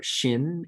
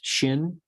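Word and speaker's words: שין: Shin is sh as in she. There's an sh sound there.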